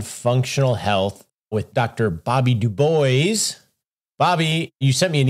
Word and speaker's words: Dubois: Most people like to give it the French pronunciation, Dubois. And we have people regularly come up and tell us we are mispronouncing our own name. But there is a long lineage of Dubois, the gentleman that started the NAACP, W.E.B. Dubois, pronounced it Dubois. But no, we have no French ancestry, Russian, Polish, Jewish, Dubovy, then at Ellis Island became Dubois.